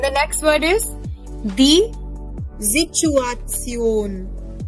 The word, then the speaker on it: Situation: Then the next word is die Situation. T-I-O-N will be Zion.